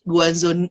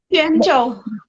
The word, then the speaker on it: Quanzhou: budaya Tionghoa, lalu juga tergabung dalam grup musik Guanzhou Nyanyin, bener ya, Nanyin? Chen Nanyin. Kan nggak bisa bacanya, gimana bacanya Kak? Quanzhou.